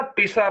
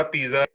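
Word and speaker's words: Pisa: मैं तो भी पहले ना पिसा पिसा बोलता रहता था, मुझे बाद में पता चला पिज्जा। इटालियन में पिज्जा 4 लेटर नाम को भी नहीं उन्होंने छोड़ा। उन्होंने तुसी ये एस को Z ही बोलते हैं ना, पिज्जा।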